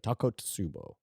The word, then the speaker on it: Takotsubo: Takotsubo. Takotsubo Great pronunciation.